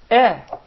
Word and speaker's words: Hamza: So you gotta say, Eh, because the Hamza is from the Halq. The farthest part, eh, eh, eh, eh.